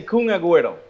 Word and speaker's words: Kun Agüero: okay how do you say Kuna just say kun agüero oh boy that's easier you know what's easier